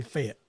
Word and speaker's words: Fayette: come to Fayette Alabama I mean it's spelled f-a-y-e-t-t Fayette but it's really fit yeah it fit Alabama failed f-e-t so yeah if y'all